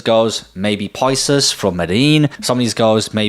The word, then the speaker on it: Medellín: Moving on to number two, it's going to be none other than Medellín, Colombia or Medellin, Colombia, how it's pronounced.